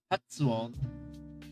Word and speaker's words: 発音: Hatsuon. What's the way to say pronunciation?